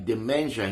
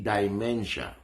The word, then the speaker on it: demensya: yung tinatawag na demensya tandaan po ang pronunciation ay demensya hindi dimensia maraming klase ang demensya na